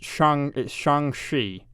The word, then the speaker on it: Shang-Chi: How does he pronounce it? It's Shang-Chi is how he pronounces it.